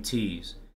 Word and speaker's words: Tees: out of his mouth my first name my last name tease how they say it is how they are meant to say it baskin robbins robins